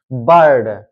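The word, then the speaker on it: bird: देख सकते हैं यहां पर आई आर साथ में आया है तो हम इसलिए इसको पढ़े हैं आ की भावना से यानी आ से पढ़े हैं बर्ड बर्ड बर्ड में जब आप पढ़ोगे तो आ की मतलब आ का सेंस निकलता है आ की भावना निकलती है यानी बर्ड इसी तरह है शर्ट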